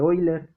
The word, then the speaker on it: Euler: de la recta de hoy la recta de boiler euler se escribe euler se pronuncia hoy la que dice la recta